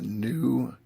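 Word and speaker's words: GNU: I'm using the new image manipulation program called GIMP. New is spelled G-N-U.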